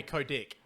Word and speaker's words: Kotick: It's Bobby Kotick. Kotick. Yep, I like that. I was about to believe you. Think I actually had it wrong for a second, but no, you're right. Kotick.